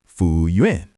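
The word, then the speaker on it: 服务员: And the button is the word fúwùyuán." Fúwùyuán. Fúwùyuán. Yeah, three syllables. Fú is to serve, wù is task or duty, yuán is person.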